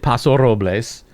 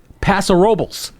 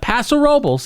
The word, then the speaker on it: Paso Robles: that they have there they will know you are a tourist if you call it Paso Robles and not Paso Robles. Yeah. Which is what the Paso Robles is what the locals call it there.